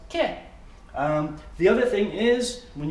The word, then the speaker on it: que: So Q-U-E is pronounced ke.